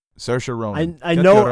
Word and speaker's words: Saoirse: It's Saoirse Ronan.